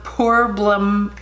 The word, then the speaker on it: Poreblem: this is there no poor balem poor bloom that is how you say that prime essence so I've